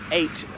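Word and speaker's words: eyot: There are dozens of them up and down the Thames, and yes, it's pronounced just like the number 8, but it can be spelled E-Y-O-T or indeed A-I-T.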